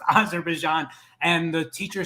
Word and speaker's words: Azerbaijan: about the former Soviet Union and the teacher mispronounced the country Azerbaijan and my daughter raised her hand and said excuse me it's pronounced Azerbaijan and the teacher says I'm sorry you know